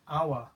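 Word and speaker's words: hour: how I'm saying it I'm saying our I'm not pronouncing that H our so that our that begins with a vowel sound so I'm going to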